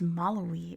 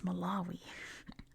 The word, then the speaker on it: Malawi: And And he also says Maloi. It's Malawi.